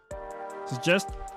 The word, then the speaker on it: suggest: In suggest, the first G is pronounced as a hard G sound, and the second G is pronounced as a J, as in gem.